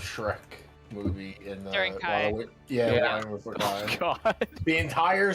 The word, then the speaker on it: chi: So, like I mean, we write it chi, but it's pronounced Kai.